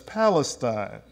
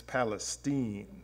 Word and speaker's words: Palestine: okay now I was always brought up to pronounce that as Palestine but in Texas its Palestine okay and I can't even pronounce how Texans